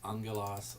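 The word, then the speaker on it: ἄγγελος: But angelos, and that's the word, that is actually the word we'll get for angel, but that's a gamma nasal. The first letter there is pronounced as an N.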